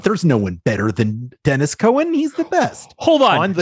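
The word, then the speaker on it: Denys Cowan: Even though Dennis is spelt the way that you would think Denis is.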